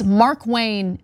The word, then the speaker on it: Markwayne: I got it, like, it's Markwayne as one name.